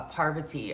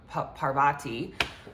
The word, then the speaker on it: Parvati: comes back reincarnated as a Parvati or Parvati um however some people pronounce it.